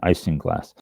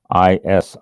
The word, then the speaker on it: isinglass: Isinglass. Isinglass.